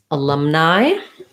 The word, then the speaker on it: alumni: Okay, we have a question about the word alumni. So alumni has stress on the lum.